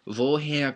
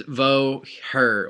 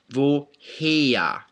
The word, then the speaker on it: woher: especially American speakers, because we want to read it as vo her or vo hair, right? But there is no r sound in German, so here it's vo heya, heya. Maybe I'd spell it like H-E-Y-A, heya, right? Heya, vo heya.